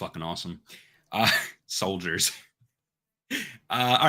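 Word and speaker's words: Souldiers: june 2nd and finally soldiers but it's spelled like soul like s-o-u-l soldiers soldiers comes out on playstation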